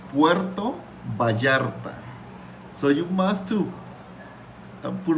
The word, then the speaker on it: Puerto Vallarta: it's so funny like you say Baya um Pua it's like it's remember it's Puerto Baya so you must to